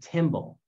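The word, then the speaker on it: tymbal: we call it a timble so kind of think of the instrument like a symbol rhymes with timble and if we zoom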